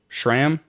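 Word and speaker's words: Schramm: a cool history uh if I could pronounce this name right Tex Shram Shram pretty sure it's Shram sorry if I'm saying that wrong but he saw a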